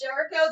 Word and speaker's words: Jericho: Is his name Jericho or Jerko? I think it's pronounced Jericho. It's pronounced Jericho.